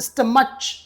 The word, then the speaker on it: stomach: Please note the pronunciation. It is not stomach. It is stomach. C. The last sound is C.